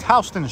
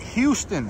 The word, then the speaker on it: Houston: all right guys here we have it East HST Street that's right H not Houston h that's how we pronounce it here in New York if you say Houston people are going to think you're a tourist